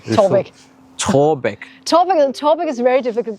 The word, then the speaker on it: Taarbæk: So it has two letters that are very difficult to pronounce for foreigners. Yeah. So it's Taarbæk.